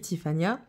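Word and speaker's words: Tiffanya: Comment ça s'écrit, Tiffania? T-I-F-F-A-N-Y-A. Et elle y tient à son A. Parce qu'elle ne s'appelle pas comment? Tiffany.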